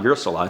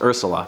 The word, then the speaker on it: Ursula: of The Little Mermaid I always feel like I'm saying her name wrong Ursula it's not your salon it's Ursula so weird name Viola